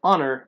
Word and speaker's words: honor: كلمة honor ما بنطقش ال H silent ودي معناها زي تكريم أو شرف.